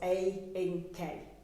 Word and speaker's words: Ayinke: But I will break her name down for people and say it's 3 syllables, Ayinke.